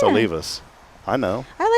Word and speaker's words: Olivas: So that's when I tell people how to pronounce it, I'm like Olivus. Like oh leave us alone. That's it's easy. It's Olivus. O L I V A S. O leave us.